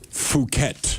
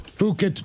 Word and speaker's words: Phuket: Phuket. Phuket Beach.